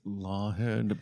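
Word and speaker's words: Laughead: which is interesting because it is spelled Laughed. Laughed. Laugh. So like laugh. Yeah. EAD. Okay. But it's, what did I say? Lawhead. It's Lawhead, please. Like I'm a lawyer with a head.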